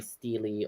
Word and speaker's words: stele: I think people say Steely or Steel, or Still or Steely. Yeah. Either way, the thing is, we all know what we're talking about, Yeah. so I don't actually care how people pronounce it. Okay, very good. Yeah. I think it's more American. As to say everybody Steely. should.